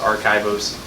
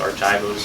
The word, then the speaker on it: Rchivos: White co-founder of archivos it is pronounced archivos I've heard it pronounced Archos our our oros Kos um and I I want